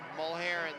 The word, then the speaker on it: Mulheron: Cross-checking on Mullerin. Mulheron, they pronounced it. I call it Mullerin.